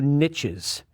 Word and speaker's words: niche: by ecologists for their ability to create new niches yes it's pronounced Niche my Millennial friends out there ornithologist